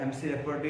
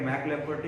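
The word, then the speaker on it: McLafferty: Next answer पे जाता है एमसी लैफर्टी, तो एमसी लैफर्टी या मैक लैफर्टी बोल सकते हो उसको, ठीक है।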